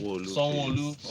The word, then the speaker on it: Sanwo-Olu: Governor Sanwo-Olu, did I pronounce it correctly? Sanwo-Olu.